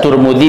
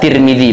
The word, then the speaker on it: Tirmidzi: Hadis yang pertama diriwayatkan oleh Imam Turmudi, bisa Turmudi, bisa Tirmidzi bacanya, dan diriwayatkan oleh Imam Ibn Majah.